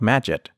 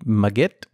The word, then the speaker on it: Magit: using a plug-in called Majid the proper pronunciation may actually be maggot but I think of